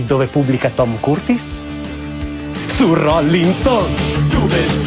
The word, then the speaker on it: Curtis: Sì, lo so, non si dice Curtis, si dice Curtis, ma a me piace Curtis, come un nobile napoletano.